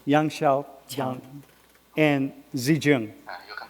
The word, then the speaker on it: Yang Xiaoqiang: So we are in, can you pronounce his name, my friend? Yang Xiaoqiang. Yang Xiaoqiang and Zijun.